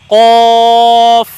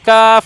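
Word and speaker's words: قاف: সুন্দর করে বলতে হবে এই দেখুন কফ আওয়াজটা একটু মোটা হবে কাফ না ক মোটা উচ্চারণ হবে কফ মাশাল্লাহ খুব সুন্দর এরপরের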